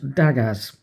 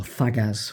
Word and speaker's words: Dagaz: So with this one, it's called Dagaz or Thagaz, whichever way you want to pronounce it.